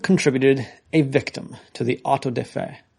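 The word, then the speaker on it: auto-da-fé: It's AUTODEFE with an accent. D-A. D-A. With a apostrophe accent on the fe. Auto de fe.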